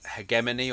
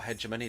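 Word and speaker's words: hegemony: Ho I am most associated with the concept of hegman or heedgemony depending on your preferred pronunciation.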